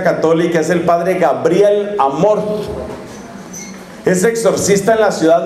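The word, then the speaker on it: Amorth: padre fortea son bendiciones usted dice amor se escribe a m o r t h amor dice amor qué es lo que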